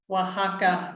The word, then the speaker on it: Oaxaca: She currently lives in, help me out with the pronunciation. It's Huajuapan de León, Oaxaca. Oaxaca, Mexico.